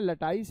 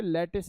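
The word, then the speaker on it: lattice: Energy का नाम है लटाइस एनर्जी, या प्यार से इसको किस नाम से पुकारेंगे? लैटिस energy. लटाइस एनर्जी या लैटिस एनर्जी एक ही बात है, प्रोनाउंसिएशन अंतर। वैसे सही प्रोनाउंसिएशन इसका लटाइस ही है।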